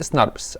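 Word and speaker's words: snRNPs: ركز بقى معايا، هنقول سناربس اسهل اهو، هي بتتنطق سناربس اهو.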